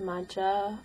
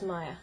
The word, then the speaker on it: Maja: um yeah I am Maya um a lot of people think that the name is pronounced MAA or Maha but it's Maya so um yeah hello